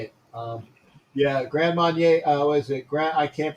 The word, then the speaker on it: Grand Marnier: Grand Marnier. What is it? I can't pronounce the cap, but Grand Marnier. Yeah, Grand Marnier. It's Marnier. Grand Marnier in the French, and that's what I drink.